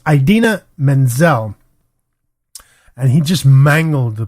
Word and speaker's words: Idina Menzel: I'm not too familiar with her but it's Idina Menzel and he just mangled the pronunciation of her name during the Oscar telecast